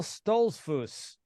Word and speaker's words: Stolzfus: Today, another Inner Circle member is joining me on the podcast, Phil Stolzfus.